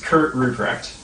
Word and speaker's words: Kurt Rupprecht: So it's Kurt Rupprecht. Kurt Rupprecht. The man can roll his tongue.